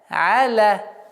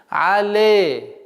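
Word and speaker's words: عَلَ: Аля. Алейхим. И нужно обратить внимание, чтобы при произношении фатха не было звук Это ошибочное произношение. Але. А нужно аля.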